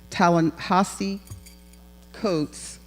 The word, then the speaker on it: Ta-Nehisi Coates: Ta-Nehisi Coates, and I have it in phonetics here and still say it wrong.